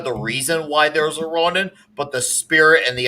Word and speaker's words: Ronin: around 20 issues and his name is ronan ronin is his name that's a different thing